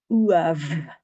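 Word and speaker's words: uamh: MH is V. V. So we want uav.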